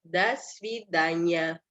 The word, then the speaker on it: до свидания: Kalau yang formal kita pakainya до свидания. Ini ya. До свидания, penekanannya di A. Jadi ini kita anggap sebagai satu kata. Makanya do-nya kita bacanya seperti da, bukan do.